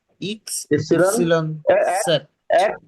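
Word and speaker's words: X: পাও বে বে ইক্স ইপসিলন ইপসিলন এক সেট। এক ইপসিলন জেড হুম। হুম। এক্স এর ক্ষেত্রে এক্স উচ্চারণ হবে না, এক্স এর ক্ষেত্রে হবে ইক্স।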